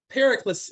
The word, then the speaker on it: Pericles: to break this up pericles yes pericles yes i'm not sure how to spell that properly we got it this one looks like it is in disinformation this is in greek uh like hercules but yeah perry flees